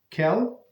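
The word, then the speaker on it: אל: Kel Melech Ne'eman. I mispronounced the first word because it's name of Hashem, right? Kel Melech Ne'eman.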